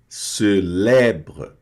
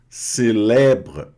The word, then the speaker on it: célèbre: E o E grave tem o som aberto, Lé, célèbre, célèbre. E esse E aqui não pronuncia, tá?